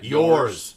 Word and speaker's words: yaws: It's spelled yaws, but everywhere I heard it, mostly because it was British people talking yeah. yours. They called it yours.